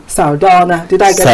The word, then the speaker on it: Sardauna: Please help me pronounce that name, Sardauna. Did I get it right? Sardauna.